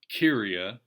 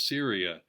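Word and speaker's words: Cyria: scholars use the name syria c-y-r-i-a sounds like kyria spelled with a k in the greek but almost everybody says syria in the pronunciation guides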